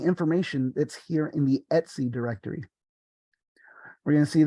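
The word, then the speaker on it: /etc: this one right here SLC or as we can see over here it's commonly pronounced Etsy so here these are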